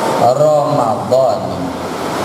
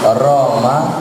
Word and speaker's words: Ramadan: sanati lillahi taala jangan Niatnya ramadona kata dia, "Masih mending Ramadan daripada Maradona." Kagak ada mendingnya dua-duanya salah dan parah. Kagak ada mendingan. Ada aturannya cara baca itu ada aturannya. Lafaz Ramadan itu di dalam gramar bahasa Arab namanya isim ghairu munsarif. Isim kata yang tidak boleh ditanwin, tidak boleh ada tanwin ramadan.